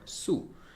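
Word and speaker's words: つ: And this is called Su. I think T is silent. It's called Su.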